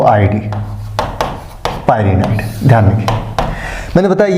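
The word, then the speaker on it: pyrenoid: मैंने पिछे लेक्चर में डिस्कशन किया था इसका स्पेलिंग होता है पी वाई आरई एन ई एन ओ आईडी पायनाड ध्यान खिए मैंने बताया ये जो पायनाड है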